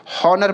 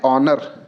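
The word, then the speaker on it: honour: कई लोग हॉर्नर पढ़ेगा। लेकिन अगर हॉर्नर करेंगे तो उसके हिसाब से ए का प्रयोग कर देंगे जो कि गलत हो जाएगा। इसको हम पढ़ते हैं ऑनर। ठीक है? जब ऑनर प्रोनाउंसिएशन करेंगे तो यहां पे एक स्वर आ रहा है। इसीलिए हमारा यहां पे एन का प्रयोग होगा।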